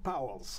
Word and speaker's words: Pauwels: background, and that's Jacques, and pronounce it... Pauwels. Pauwels, like, yes, Pauwels, Pauwels, like Pauwels. It's a good Flemish name.